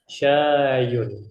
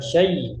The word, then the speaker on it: شيء: Ba'dahu syayun. Perhatikan cara bacanya, bukan syai ya. Tidak ada tasydid di atas huruf ya. Syayun seperti itu.